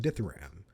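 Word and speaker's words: dithyramb: knocked out after misplaying ditharam forgetting that there's a silent b at the end there's a silent beat dumbass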